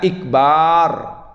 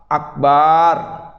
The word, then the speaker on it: Akbar: Misalnya ikbar, akbar. Karena dia itu akan maknanya beda. Maknanya itu seperti gendang besar kata. Gendang besar maknanya. Oleh karena itulah bacanya harus pas.